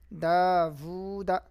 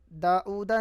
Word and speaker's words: داوود: رواں پڑھیں گے لہو داوود داؤدا نہیں داوود واو ہے رسولہ آیاتہ